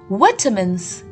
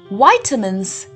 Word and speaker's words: vitamin: to as protective foods the word vitamin can be pronounced in two different ways in the british english pronunciation we refer to it as vitamins vitamins the second pronunciation is the american english pronunciation in which we refer to it as vitamins vitamins both vitamins and vitamins are correct pronunciations of the same word categorizing them on